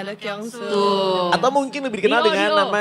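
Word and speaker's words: Do Kyung Soo: Bener ya bacanya Do? Ya, Do Kyung So.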